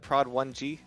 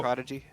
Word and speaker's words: Prodigy: And do we have to pronounce it Prod 1G? Can't just say What? Prodigy? Prodigy.